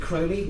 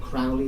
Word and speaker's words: Crowley: and have fun Aleister Crowley it's it's that's crazy to rhyme with holy not Crowley that rhymes with family so Alice as the